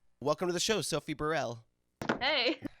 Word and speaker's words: Burrell: way, is it pronounced Burrell? It can be pronounced Burrell or Burrell. Like, my family all say it a different way, so either one is good. Which one do you say? I say Burrell, but I might change that.